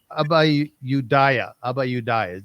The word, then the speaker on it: Abayudaya: The community is called the Abayudaya. Abayudaya.